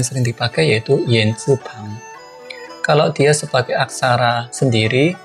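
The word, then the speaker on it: 怕: Artinya takut dan cara bacanya mirip dengan pai, jadi pa. Berarti masih ingat ya, bertepuk tangan itu kan juga pakai pai, artinya berhubungan dengan tangan, berarti tepuk tangan.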